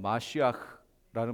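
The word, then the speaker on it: מָשִׁיחַ: 정확히 말하면 마시아흐라는 말이에요. 근데 그게 그냥 우리 그냥 발음으로 그냥 메시아 이렇게 얘기해요.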